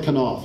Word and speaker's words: Knopf: my call it's like Knopf you pronounce the K right he did call me